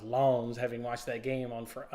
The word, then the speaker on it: Lens: Lens Sevilla, this was actually, I think it's pronounced Lons, having watched that game on the other week. This was going to be a boring game. This is a game where Lons just needs to have